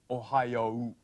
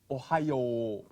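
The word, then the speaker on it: おはよう: ohio is written and in ancient times it was pronounced something like ohayou but through the years the pronunciation changed to ohio even though in hiragana it's still written ohio which is jumping ahead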